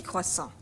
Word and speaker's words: croissants: But the S isn't pronounced. So it's un croissant, 6 croissants. Un panaché, 2 panachés.